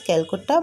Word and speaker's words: Calcutta: It was then pronounced as Calcutta by the British.